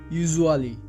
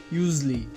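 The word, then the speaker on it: usually: ইউজুয়ালি, এটি ভুল উচ্চারণ। এর সঠিক উচ্চারণটি হবে ইউজলি।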